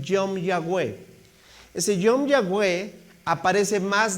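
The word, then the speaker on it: יום יהוה: Mira, es una expresión en hebreo que tiene más o menos así la pronunciación, Yom Yahweh.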